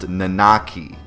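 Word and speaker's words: Nanaki: real name given to him at Birth was nakaki and yes I did my research this time it is pronounced nakaki that's how you pronounce it plus I'm part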